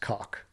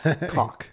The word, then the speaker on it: caulk: In America, it's just pronounced cock. Yep. Caulk. Yeah. Cock.